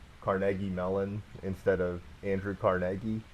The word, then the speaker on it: Carnegie: Oh, how would you pronounce it? Carnegie. Oh, how did I say it? Carnegie. Oh, I guess. No, but I don't know. I might be wrong. Carnegie, like Carnegie Hall.